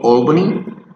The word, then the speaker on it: Albany: In any position, this letter A and L is going to sound all. Albany, the capital of New York, Italy or Italy, also salsa.